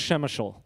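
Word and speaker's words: Przemyśl: this word here i love this p-r-z-e-m-y-s-l it's pronounced shemeshol many of you who've been watching the nightly news have seen images of a train station that is the train station of shemeshol and i'll show you a picture of it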